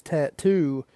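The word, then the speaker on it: t.A.T.u.: Things She Said by an artist known as tattoo and it's spelled weird it's spelled like t a tu if you wanted to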